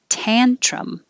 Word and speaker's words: tantrum: of and offer 52 tantrum the vowel is ah tan so you could say